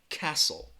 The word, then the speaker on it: castle: spelling a silent letter Castle castle that T there there is no T it a silent T castle so I'm putting that